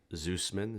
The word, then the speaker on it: Zoosman: uh middle name jacob zeussman z like and zebra oos like in sam m-a-n and um